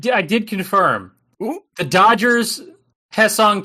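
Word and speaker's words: Hyeseong: I I did confirm the Dodgers Hesson Kim despite it being Hy S E O N G is still also pronounced he.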